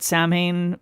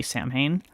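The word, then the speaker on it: Samhain: So, this was previously released um as uh I'm going to pronounce it Samine Blue even though or Samine Buru rather even though I know that that's not the correct pronunciation um because I feel like that's how most people pronounce it and also I don't remember the correct pronunciation. I just remember that it's not actually Sam Hayne.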